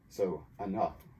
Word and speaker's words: enough: GH usually is silent, but here it makes the F sound. So enough.